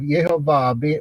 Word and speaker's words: Yehovah: ago several years ago we took those four letters and made our best guess as to how to pronounce it and it just happened to be incorrect since then we have found examples of yehovah with the correct vowel pointings thousands of them by